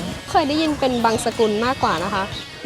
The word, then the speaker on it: บังสุกุล: ขอบคุณ มาก นะ คะ ต้อง เรียก ว่า บังสุกุล หลวง เรียก พิมพ์ มา ตั้ง นาน เนี่ย บังสุกุล ค่ะ บาง สกุล นะ คะ เยี่ยม มาก ค่ะ